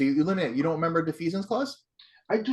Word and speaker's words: defeasance: So defeasance is how you pronounce it?